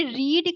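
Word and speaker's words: read: ठीक है, रीड रीड रीड ये तीनों फॉर्म स्पेलिंग सबकी सेम होती है लेकिन पढ़ते सेम नहीं है, याद रखेंगे आप। तो पास्ट फॉर्म को रेड पढ़ते हैं, प्रेजेंट को रीड पढ़ते हैं।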